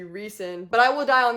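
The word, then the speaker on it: Rhysand: I know that it's supposed to be pronounced, I believe, Aelin Galathinius, but I call her Alien, and Rysand is supposed to be Reeson.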